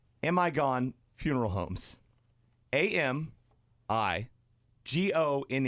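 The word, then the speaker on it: Amigone: funeral homes in buffalo called amigon funeral homes a m i g o n e all put together but it's amigon I looked it up it's pronounced amagon and it's somebody's last name no way no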